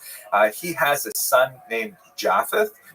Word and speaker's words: Japheth: He has a son named Japheth. In the Ashkenazi pronunciation, that would be Yafes.